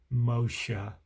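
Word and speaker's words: משה: Then Yahweh said to Moses, now we learned in an earlier video, his name in Hebrew is pronounced Moshe, and it means draw out or born of.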